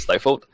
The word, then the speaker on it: Stifled: that's s gif led GME comm stifle gets pronounced St for a lot of times but don't do that it's stifled and their mouth warfare it's muffle fell calm